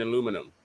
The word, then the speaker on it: aluminum: like that yeah there's no eye there's no eye after the end in aluminum i don't know where you guys get aluminium from aluminium please take it easy